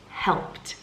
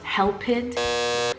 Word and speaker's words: helped: stress once again but if you are pronouncing the word helped as help it or help it there's a strong chance